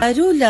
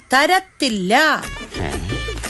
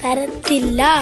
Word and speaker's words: തരത്തില്ല: തരൂല എന്ന് അങ്ങനെയല്ല പറയേണ്ടത്, തരില്ല അല്ലെങ്കിൽ തരത്തില്ല. തരത്തില്ല, അങ്ങനെ വ്യക്തമായിരിക്കണം ഉച്ചാരണം.